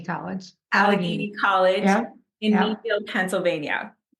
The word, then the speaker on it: Allegheny: Allegheny College. Allegheny College in Yep.